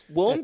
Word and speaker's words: Willem: Willem Dafoe's real name is William Dafoe. Isn't that fucked? Yeah, but his name is pronounced Willem.